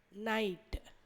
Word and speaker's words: night: இப்போ நைட், NIGHT. இப்போ கவனிச்சிங்கன்னா இந்த GHன்றது ஓசை இல்லாத எழுத்துக்கள். அப்போது NIT அந்த 3 எழுத்துக்களுக்கு மட்டும்தான் நம்ம ஓசை கொடுப்போம்.